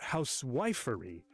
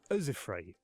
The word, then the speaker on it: housewifery: Meter can also reveal stress, not housewifery, but uzifry.